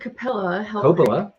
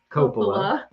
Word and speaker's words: Coppola: had a like four mitsubishi yeah like four syllables in that question 19 which disney attraction did francis ford cappella that's why i shouldn't be allowed to read the questions which disattraction did francis ford coppola help create have you never heard of francis